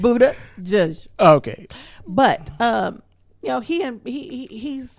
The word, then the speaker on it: Buttigieg: I can pronounce his name. You couldn't. It's Buttigieg.